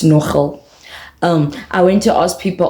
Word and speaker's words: NGL: Is it Nogal because the way it's spelled like NGL, it's Nogal.